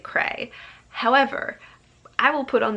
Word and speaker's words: Creidhe: to the audiobook and they pronounced it Cray.